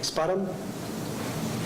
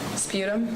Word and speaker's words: sputum: what did you rate her i'm sorry it's pronounced that word for me spot him sputum sputum thank you and what's what's sputum like